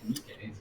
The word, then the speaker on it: Nikkei: Nikkei is how we say that one, apparently.